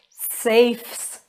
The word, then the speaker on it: safes: roofs roofs good job safes safes have you heard the s sound safes then we have